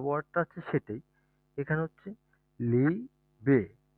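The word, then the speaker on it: Liebe: ইংলিশে যেই লাভ ওয়ার্ডটা আছে সেটাই, এখানে হচ্ছে লিবে।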